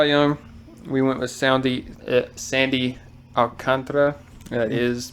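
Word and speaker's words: Sandy Alcántara: know I saw young we went with soundie Sandy alcantra that is correct pronunciation um I mean that's a young Star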